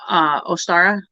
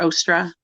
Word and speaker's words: Ostara: Do any of you ladies have anything else you want to talk about Ostara or the equinox or Ostra? Can be pronounced many different ways.